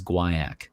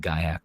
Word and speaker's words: guaiac: of those like American versus you know British pronunciation or or what was going on there so supposedly it's always Gua ACK but I've definitely heard guy ACK wood and I just the the a show